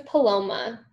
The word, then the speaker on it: Paloma: in how is it palomoa how do you say your name yes my name is paloma so probably yeah what